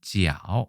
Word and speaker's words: 角: 각자는 지아오 이렇게 발음을 합니다.